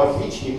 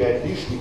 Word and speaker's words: отличник: Нет двоечник привычне всего отличник и отлишник нельзя говорить да то есть это другой